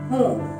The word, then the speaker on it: हूं: आई हूं, खून नहीं हूं। लेकिन यहाँ खून लिखा है, HOON। आई नो, लेकिन इसको प्रोनाउंस हूं करते हैं। ये नून की नेजल साउंड होती है। इट्स प्रोनाउंस्ड एज हूं।